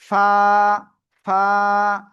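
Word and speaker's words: فاء: দেখেন, এই যে নিচের ঠোঁটের ফেট উপরের দুই দাঁতের আগার সাথে লাগাবেন, লাগিয়ে হালকা বাতাস বের করে আপনার এক আলিফ টানিয়া উচ্চারণ করতে হবে। কি বলেছে? নিচের ঠোঁটের পেট উপরের দুই দাঁতের আগার সাথে লাগাবেন, লাগিয়ে হালকা বাতাস বের হবে। ফা, ফা, এক আলিফ টান হবে।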